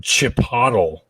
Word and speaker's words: Chipotle: pronounced Chipotle.